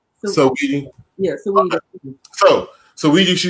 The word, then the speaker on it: Saweetie: Is it Saweetie? Saweetie or Saweetie? Sweetie. The rapper, the singer, R&B. I think it's Saweetie. Saweetie.